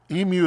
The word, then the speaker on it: emu: I don't know just don't ask an Australian how to pronounce emu it destroys America's brains um emu is what we say here emu I've heard but I